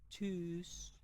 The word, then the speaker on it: Tschüss: T S C H itu dibaca C. Jadi, ini bacanya Tschüss.